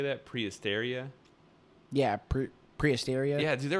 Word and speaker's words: Prehysteria: right there prehistoria how do you say that prehysteria yeah prehysteria yeah dude there was freaking three